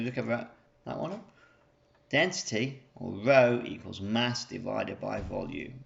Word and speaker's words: rho: by volume or in symbols I could say Rho equals M over V okay so we look at that wanna density Rho equals mass divided by volume okay so let's